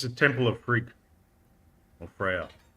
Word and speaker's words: Frigg: It's the Temple of Frigg, or Freya. So The second G is silent.